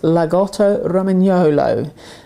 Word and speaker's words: Lagotto Romagnolo: It's actually pronounced Lagotto Romagnolo.